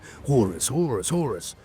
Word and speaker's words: Horus: I should say, got to say it right, Horus.